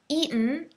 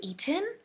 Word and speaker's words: eaten: Eaten is the same pronunciation. We don't say eaten. For example, I don't talk with my friends, oh, have you eaten?